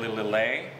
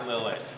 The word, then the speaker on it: Lillet: sophisticated Spirit okay then little lay so it's not L it's not Lillet oh man crazy I've